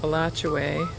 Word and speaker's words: Alachua: at travelers campground in alachua or as the locals say it alachuae florida just outside gainesville